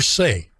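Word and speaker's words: Sey: And then real quickly, Jennifer Say, that's pronounced last name S-E-Y, was, and not too long ago, a major executive at Levi Corporation in San Francisco.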